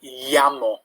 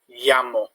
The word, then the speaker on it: llamo: Other key thing to look out for, the double L in Spanish, which is a bit like a Y sound. Me llamo, llamo.